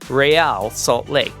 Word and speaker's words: Real Salt Lake: lowercase e, capital AL, which is a clever way of pointing the English-speaking fan base toward the correct Spanish pronunciation, Real Salt Lake.